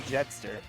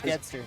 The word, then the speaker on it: Getster: So also, you just made Getster sad by saying Jetster. Did I pronounce it wrong? Yeah, it's Getster.